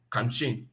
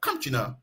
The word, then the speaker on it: Kamchin: Like whenever I'm coming home, my area is called Kamchin. That's where I can pronounce it, the spelling, Kamchin. But whenever I tell them, they will carry me to the wrong place. But I got to know that I have to pronounce that Kamchina.